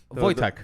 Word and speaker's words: Wojtek: Wachak or whatever? Which one? Wojtek. Wojtek. Wojtek. Wojtek. Yeah, Yeah, Wojtek. yeah. Watch it. Yeah. Okay. It's spelled with a W. It's a RV. It's weird.